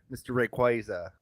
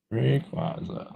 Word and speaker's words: Rayquaza: Rayquaza, however you want to pronounce it. Rayquaza.